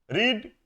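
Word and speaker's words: read: सीख लेंगे देखिए टू रीड क्या मैंने दिया है यहां पर सावधानी देखिएगा स्पेलिंग तो सेम है उच्चारण अलग-अलग है रीड रेड रेड रीडिंग रीड्स ठीक है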